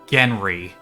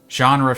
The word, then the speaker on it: genre: He just pronounced genre as Genry, and I'm glad there's an option here to correct him, because I'm going to do that. Genre, Felix, it's pronounced genre.